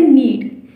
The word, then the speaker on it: knead: नीड, KNEAD. इसमें के जो है बेसिकली वो साइलेंट है, तो आप नीड बोलेंगे.